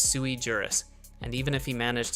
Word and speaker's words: sui juris: It's not suejurus, it's sui juris.